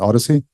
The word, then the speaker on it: OHDSI: an open source uh stands for observational Health Data sciences and informatics uh but we like to pronounce it Odyssey uh it's an open